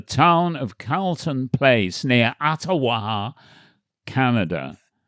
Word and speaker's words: Ottawa: I think they pronounce it Ottawa.